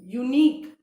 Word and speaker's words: unique: तो वाई क्या है, वाई एक कॉन्सोनेंट है, स्पेलिंग वावल से है which is यू, but sound जब हम बोल रहे हैं यूनिक है ना, यू, यू का साउंड आ रहा है, य का साउंड आ